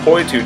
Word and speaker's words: Poitou: video three different possible effects we have this puu donkey it's spelled p o i t o u donkey